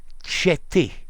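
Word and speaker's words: Tietê: By the way, Tiete is pronounced Cheti. Thank you. Cheti. Rhymes with the first I in the word India. And Ti rhymes with tit, as in tits.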